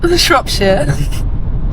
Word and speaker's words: Shropshire: I can't even really pronounce it properly, but it's Shropshire.